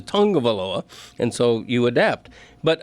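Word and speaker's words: Tagovailoa: I mean, I I probably went the first year after he was drafted saying tagaloa, you know, event but eventually you learned that the way he pronounces it in the Samoan culture is Tongavaloa and so you adapt.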